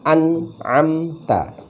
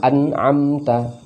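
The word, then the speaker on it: أنعمت: Di berikutnya an'amta. Mestinya an'amta.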